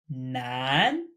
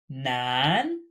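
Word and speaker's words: 南: Nan. Nan. This character means south. Note it is pronounced exactly like male or man.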